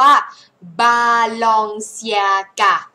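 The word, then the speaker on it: Balenciaga: เฉลย แล้ว นะ อ่า ออก เสียง ว่า บาลอง เซีย กะ บาลอง เซีย กะ มัน ก็ คือ บาลอง ซี อา นั่น แหละ ซีอา เมื่อ สระ มัน ติด กัน แบบ นี้ เรา จะ เอา เชื่อม ด้วย เสียง เยอะ ก็ กลาย เป็น จ cc มัน เหมือน คน ลิ้น ไก่ สั้น ป่ะ CR C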